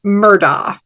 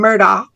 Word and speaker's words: Murdaugh: is the news media at large has been pronouncing the name of the perpetrator now convicted as Alex Murdoch and we've been doing that too if you